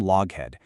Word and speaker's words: Loughead: And then, along comes an inventor named Malcolm Loughead. And fun fact, he later changed the spelling of his name to Lockheed. Yeah, that Lockheed, so people would pronounce it correctly.